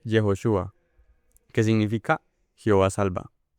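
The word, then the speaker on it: יהושע: Eh, Josué en hebreo es, o se dice, se escribe Yehoshua, que significa Jehová salva.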